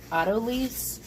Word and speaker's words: autolyse: minutes is going to do a process called autolyse, At least that's how I Now, pronounce how it.